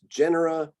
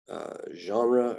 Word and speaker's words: genera: genus g-e-n-u-s plural is genera it's not pronounced genre or anything like that genre is a french